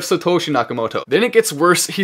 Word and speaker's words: Satoshi Nakamoto: Then we also see he pronounced it Satoshi Nakamoto instead of Satoshi Nakamoto.